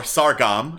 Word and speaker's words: Sargam: A dance hall, place called Sargam Offices, or Sargam, I believe it's pronounced.